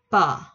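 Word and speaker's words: ㅂ: P không phải như là bờ của Việt Nam bình thường mà nó bặm môi và đọc thật là đàng hoàng. P. P. P. Bặm môi bật ra nha các bạn.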